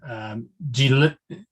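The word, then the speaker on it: Djeliya: It is called Jalia. That's how you pronounce it, even though it's spelled with some other letters.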